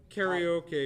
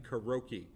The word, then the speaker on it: karaoke: it's karaoke but so it's pronounced carry okay because we're not monsters mongrels and awful people which is closer to karaoke than kuroky you monster anyways I